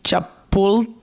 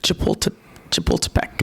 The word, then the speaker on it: Chapultepec: and really good restaurants in, I believe it's pronounced Chapultepec.